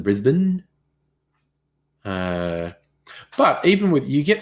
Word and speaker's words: Brisbane: Yeah, Justin, I think Americans tend to say Canberra rather than Canberra, and Brisbane rather than Brisbane.